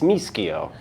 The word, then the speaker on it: Mischio: And finally, I get to introduce our featured speaker, Greg Mischio. Am I pronouncing your last name correctly? Yeah. Great. Unless you're in Italy, then it's Mischio.